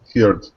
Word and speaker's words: heard: Be careful of pronunciation of herd. H-E-R. I heard. I heard. Heard. Better. Heard.